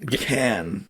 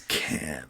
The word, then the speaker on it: Cannes: Dude, it's actually Can, Alex. It's Can. Very French. The S is silent. Can.